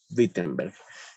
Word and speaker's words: Wittenberg: En Wittenberg, en Alemania. En Alemania, ¿verdad? Parece que Luis se salió y volvió a entrar. Bueno, ya. En Wittenberg, la W, en Alemania la pronuncian como B chica, ¿no? Wittenberg.